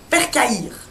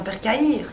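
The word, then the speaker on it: percaïre: mots je sais pas du tout comment on prononce. Alors, Pecaïra. le premier mot qu'elle m'a donné c'est percaïr.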